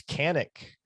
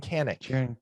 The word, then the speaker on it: Kanich: the way we've been we've been saying his name wrong this entire time knack isn't how you say it no it's kanik jiren kanich kanik that's gonna take some getting used to it's going to be